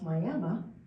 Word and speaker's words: Miami: This is called the Ribbon Road, and it's near Miami, Oklahoma, which they pronounce Miami, Oklahoma.